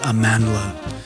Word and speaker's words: Amandla: of those influences and I found out that I've been mispronouncing Amandla all this time the Miles Davis record that he uh wrote and produced it's aanda not aanda uh so so thank you